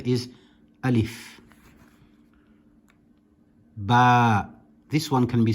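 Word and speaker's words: ألف: It is pronounced nice and sharply without stretching any letters. There's a common misconception about the letter Alif. Some people like to pronounce it as Alif, and that is incorrect.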